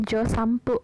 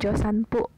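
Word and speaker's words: 助産婦: Nah, dibacanya josanpu bukan josanpu. Aku juga udah jelaskan di materi sebelumnya bahwa ketika huruf N bertemu dengan huruf P atau B atau M, maka huruf N itu akan berbunyi seperti M. Jadi di sini josanpu dibacanya josanpu.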